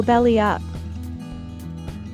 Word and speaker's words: belly up: When we link the words together in fast speech, we'd add a little y sound in between belly and up for a smooth flow.